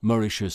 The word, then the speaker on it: Mauritius: vieux nom hollandais de Mauritius qu'on prononce mauricius Sala britannique désormais les